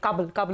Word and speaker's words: Kabel: Still trying to figure out what's the right pronunciation. Kabel it is, right? I confirmed with the management.